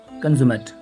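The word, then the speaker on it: consummate: ये अगर एडजेक्टिव की तरह होगा तो ये हमारे पास और साउंड आएगा, इसको हम बोलेंगे कंज्यूमेट।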